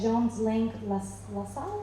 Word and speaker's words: Jones Lang LaSalle: She's a former teacher at the University of Texas and Western Washington University, and corporate DEI content and research led at Jones Lang LaSalle?